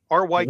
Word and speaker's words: Ryk: R-Y-K. Ryk.